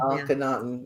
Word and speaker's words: Akhenaten: Akhenaten.